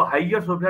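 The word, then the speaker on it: Hagia Sophia: जाएगी और जो जो आया सोफिया जिसकी स्पेलिंग एच ए जी आई ए उसको हाईयर सोफिया भी लोग कहते हैं उस चर्च के डोम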